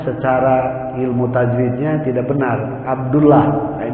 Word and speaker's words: Abdullah: diawali dengan Abdu Abdullah jangan salah ada yang pengucapannya secara ilmu tajwidnya tidak benar Abdullah Kenapa secara ilmu tajwid itu mana lagi aturannya kalau 8 Allah sebelumnya fathah atau dhomah itu harus pakim-hakim itu ditebalkan Abdullah bukan Abdullah kemudian